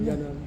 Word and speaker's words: Iannone: Yannon, vous le prononcez Yannon? Yannon.